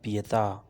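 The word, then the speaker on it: pietà: اسے غلط تلفظ سے بولتے ہیں، یہ صحیح تلفظ ہے پیتا۔ اس کے بعد آتا ہے سپیا جاسوس، سپیا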